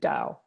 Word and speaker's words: Taoist: it's called the Taoist it's spelled ta o is T even though it starts with a T we kind of say Dao so dad I was